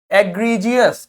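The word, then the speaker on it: egregious: इसको देखिए, एग, egg, agree, agree, और फिर देखो जे बन गया, जबकि यहां पे जे कहीं नहीं आ रहा था, यानी कि जी का प्रोनाउंसिएशन क्या है? जे। एग्रीजियस क्या हो जाएगा?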